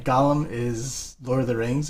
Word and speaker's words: golem: what you say it's golem and gollum right gollum is lord of the rings and golem is a hypothetical they're technically pronounced the same way oh really yep oh